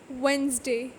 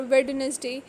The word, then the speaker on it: Wednesday: common words handkerchief sandwich wednesday we are not going to say like handkerchief or sandwich or wilderness day in these cases d is not pronounced at all silent e e is